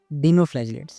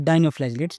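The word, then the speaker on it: dinoflagellates: Topic 2.2.2 डीनोफ्लैजिलेट्स या फिर डाइनोफ्लैजिलेट्स, जो भी आप प्रोनाउंसिएट कर सको, ठीक है जी।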